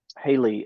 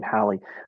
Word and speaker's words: Hallie: Now, I know when I was talking with Haley about, or Hallie, I think you pronounced her name, Hallie, about this whole shift from MailChimp.